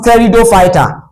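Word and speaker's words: Pteridophyta: It is pronounced terido fighter for your easy ability to spell.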